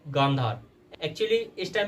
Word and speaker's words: गांधार: है जिसका नाम है गांधार। एक्चुअली इस टाइम पे उसको कांधार बोला जाता है because of miss pronunciation, but actually वो गांधार है जहाँ की गांधारी थी, जो कि कौरवों की माता थी महाभारत में।